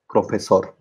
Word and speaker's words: profesor: So in all these words, universidad, español, profesor, reloj, actriz, vivir, the stress falls on the last syllable. Universidad, español, profesor.